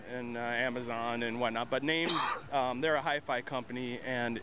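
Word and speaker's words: Naim: Is that how it's pronounced? Yeah, Name. Okay, Name. Yeah. That's N-A-I-M.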